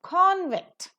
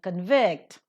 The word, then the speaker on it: convict: as nouns or adjectives, the stress would be given to the first syllable. But if they are functioning as the verbs in the expression, the stress is given to the second syllable. Accordingly, we have the pronunciation of convict being pronounced as a noun and convict being pronounced as a verb.